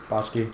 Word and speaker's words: Bakshi: Isn't it Bakshi? Bakshi, yeah.